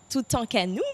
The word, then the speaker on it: Toutankhamon: les pharaons, donc dans la tombe du pharaon Toutankhamon, je crois bien que c'est comme ça qu'on prononce. C'est bien ça le sage? C'est ça, Toutankhamon.